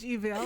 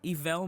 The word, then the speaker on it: Evelle: Thank you so much, Evelle.